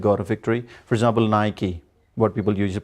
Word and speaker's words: Nike: the sport things but the word is wrong you mispronounced that is naik it should be nike so we say nike we don't tonight and what about Eddie